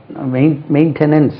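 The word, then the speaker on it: maintain: பராமரி காப்பாற்று மெயின்டைன் பண்றது மெயின்டெனன்ஸ் வந்து நவுன் மெயின்டைன் செகண்ட் சிலபல் தான் ஸ்ட்ரெஸ் பண்ணும் மெயின்டைன் எம் ஏ மெயின் எம் ஏ மெயின்டைன் எம் ஏன் டெயின் டிஏ ஐ என் மெயின்டைன் stress lies on the second syllable மெயின்டைன் பண்ணனும்ப்பா நல்லா மெயின்டைன்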